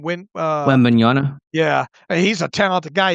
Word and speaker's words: Wembanyama: I think the Knicks, just the three their three nucleus is better than how do you pronounce the last name? Wembanyama.